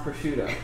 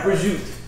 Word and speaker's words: prosciutto: Hey, while we're on that, I want to say that mozzarella is pronounced mozzarella, ricotta is pronounced ricotta, prosciutto is pronounced prosciutto. It's not rigot, mozzarella, or prosciutto. Those are East Coast American.